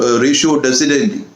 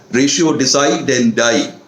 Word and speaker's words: ratio decidendi: So it is pronounced usually as ratio decidendi. Some pronounce it as ratio decidendi.